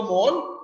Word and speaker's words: mol: Now this is, you know, I am going to tell now next about the mol, M-O-L. Now pronunciation is same. We pronounce in same manner.